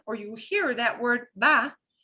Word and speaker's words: va: you hear that word va, it's going to really sound like a B, a very soft B as in boy, B, big. They do not pronounce the letter V like a ¿Cómo te va?